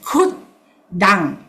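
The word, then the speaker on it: khuddaṃ: Okay, here, the KH, k. Okay, double D. So we pronounce as kut dang.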